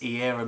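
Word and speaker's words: Eirra: information another person you should check out is era music that's spelled e i double r a and you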